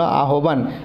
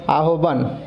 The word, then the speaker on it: আহ্বান: হয়ে বয়ে আকার দন্তন্য আহ্বান, তাহলে হয়ে বফলা দিয়ে শব্দ পেলাম, বিহবল গহবর আহ্বান। এবার এখান থেকে আমরা কি জানতে পারলাম, বফলাযুক্ত বর্ণ উচ্চারণকালে বফলার ব শুনতে পাওয়া যায় না।